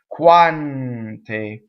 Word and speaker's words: quante: in any book anywhere but ends that touch consonants sing right Kwan T so the qu right